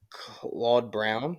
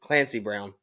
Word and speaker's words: Clancy Brown: And then I like that Claude Brown. Is that how you say it? Clancy Brown.